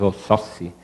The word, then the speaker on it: Oxóssi: E até em Yorubá, na realidade, se diz Oxóssi, né? Porque tem os acentos diferenciados. E a pronúncia aportuguesada é que vira o Oxóssi com X, mas seria com S, enfim.